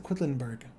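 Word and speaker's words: Quedlinburg: guys play board games quacks of quitlinberg that's how you pronounce that name quacks of quidlinberg that's my recommendation today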